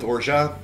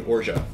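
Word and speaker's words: orgeat: name o-r-g-e-a-t um um I go with orja I believe that is roughly correct it's actually comes from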